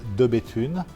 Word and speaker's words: De Bethune: The correct pronunciation is de Bethune.